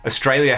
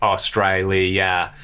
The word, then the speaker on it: Australia: Australia has 3 A's, all pronounced differently. I read that and it blew my mind. So yes, that is correct. Australia.